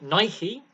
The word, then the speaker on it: Nike: playing Gear uh now Nike yes that's the American pronunciation of this company um which is an